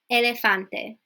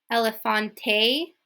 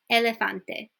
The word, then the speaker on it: elefante: e or an A so Elefante so what's not going to be elephante or I don't know okay it's Elefante okay so it's always that same sound we're not going to change the last word to like an A so like elephante no Elefante okay you have